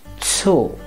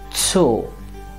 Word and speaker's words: Zoo: o is o now when we have a double vowel the pronunciation is a long o and not as in english for example this word